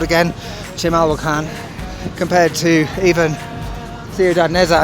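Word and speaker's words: Chimalhuacán: Chimalhuacan, I think that's the correct pronunciation.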